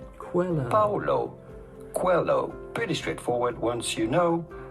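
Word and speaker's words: Paulo Coelho: to pronounce that how do you go about pronouncing his name Paulo Quello Paulo Quello pretty straightforward once you know Paulo hello cuello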